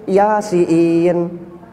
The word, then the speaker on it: Yasin: Sebab kalau orang tidak bisa baca Al-Qur'an baca Yasin tu bukan Yasin ya. Yasiin. Karena dikiranya i double itu yang bacanya Yasiin. Heeh. Padahal itu inn-nya panjang Yasin.